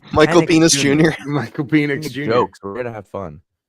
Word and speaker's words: Penix: Penix. It's Michael Penix Penix Jr. Michael Penix Jr.